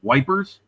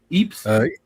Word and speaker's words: Ypres: How do you British say it? Y-P-R-E-S. Wipers? Ypres? Ypres. Ypres. Okay, so you say it like the natives do. Okay. Yes. Because I've heard anything and everything from the British folks. Like the veterans used to call it wipers.